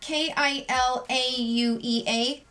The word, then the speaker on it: Kilauea: hey Google how do you pronounce the word kil au EA that's pronounced the word Kilauea Kilauea Loa uh Callaway uh QE is an active